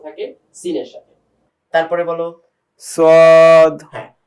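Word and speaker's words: ص: এই জন্য আওয়াজটাকে মোটা করে করতে হবে, যাতে করে সদটা স্পষ্টভাবে পার্থক্য থাকে সিনের সাথে। তারপরে বলো সদ হ্যাঁ, সদটা আরেকটু মোটা করে বলতে হবে, সদ।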